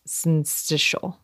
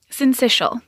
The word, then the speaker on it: syncytial: And Erin, I hope you're going to tell me how to pronounce syncytial. Syncytial.